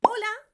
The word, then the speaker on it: hola: Hola. Now, as you know, the H in Spanish is silent.